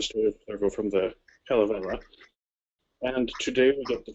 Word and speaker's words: Kalevala: In Finnish, the major emphasis is always on the first syllable of the word. So it's always Kullervo, Kalevala, Kullervo, Untamo. All of them hit that first syllable.